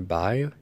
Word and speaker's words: Bai: doing a review on the bay or by how we pronounce it the two drinks just